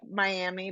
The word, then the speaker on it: Miami: the your home my miam I say it spelled like Miami but it's Miami Oklahoma so do you remember